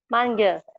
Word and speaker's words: manger: Car j'aime manger. Good. For the last word for eating is manger. Can you pronounce after me?